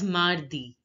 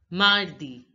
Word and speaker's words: mardi: speaker to understand better again landi Tuesday is pronounced as Mardi Mardi now see the a you all by now